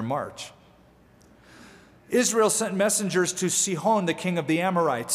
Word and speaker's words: Sihon: Then Israel sent messengers to this character by the name of Sihon or Sihon. Sihon is the right pronunciation.